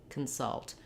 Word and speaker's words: consult: at the word consult, we have the stress on the second syllable. So the salt syllable is long. It has a clear vowel, the stressed schwa sound, and the letters C-O-N are in the unstressed first syllable, and they sound like consult. It's almost like there's no vowel there at all. We do have a little short unstressed schwa, consult, but you can hear